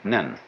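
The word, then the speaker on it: 念: They have a very interesting sign this it's pronounced nyun in Japanese nen and the top part of the character uh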